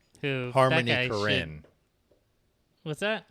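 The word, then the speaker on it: Korine: Harmony Corine. Who? Harmony Karin. What's that? I think I think his last name is pronounced Karen.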